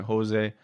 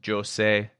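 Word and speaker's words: José: He's like, everyone calls me Jose. That's Spanish. He's Portuguese, so it's Jose, which I thought was so funny. Is for years I've called him Jose.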